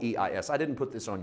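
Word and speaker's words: εἰς: It's pronounced ice like ice cubes.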